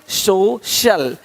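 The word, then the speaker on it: social: अब देखो, यदि सी के आगे आई ए हो तो सी का उच्चारण श होता है। क्या होता है? श होता है। क्या लिखा हमने? सोशल, सोशल, सोशल। तो यहाँ पे शल हो रहा है, सोशल, है ना?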